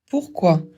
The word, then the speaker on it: pourquoi: Pourquoi ? Pour une cause Q U, ça fait que parce qu'on ne prononce pas le u. O plus u, ça fait ou. O i, ça fait wa.